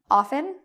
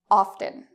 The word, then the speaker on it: often: what this means is you can have it without the T often or with the T often so even though we have a rule up here fteen usually it's a silent T but in the case of often it's your choice if you like the